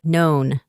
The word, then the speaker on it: known: La K no se pronuncia de nuevo, así que suena como known.